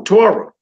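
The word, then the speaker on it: תורה: word is dead my sister how do you pronounce the last word right there Torah there you go Torah film was we all know with the Tories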